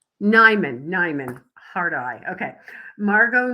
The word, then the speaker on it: Nimone: Uh our guest today is Margot Neimon. Did I pronounce that correctly? Nimon. Nimon.